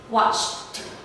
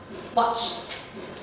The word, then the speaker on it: watched: So you can say, ch, ch, watched, watched. So remember, the ED will become ta. So you will pronounce it as ta.